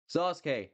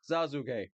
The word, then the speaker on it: Sasuke: It's Sasuke, not Sasuke.